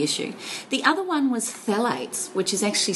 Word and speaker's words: phthalates: The other one was phalates, which is actually spelled um P H P H A L A T E S.